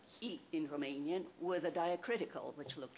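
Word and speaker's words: România: alter was romania romania because it's pronounced in in romanian romania so that oo sound that remained written with an a so um it's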